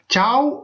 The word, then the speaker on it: ciao: சாவ் அப்படின்னு சொல்லி சொன்னா வணக்கம். சாவ், CIAO, CIAO, சாவ். CIE என்றெல்லாம் நான் சொல்லல, CIAO. நீங்க சிம்பிளா இங்கிலீஷ்லயே அதை சொல்லிக் கொடுங்க. சாவ், சாவ், சாவ். CIA என்று வந்தா ச என்ற உச்சரிப்பு வரும்.